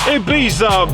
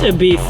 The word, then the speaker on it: Ibiza: my new flat mates ITA baby please stop and also it's pronounced to Bea seriously like shut all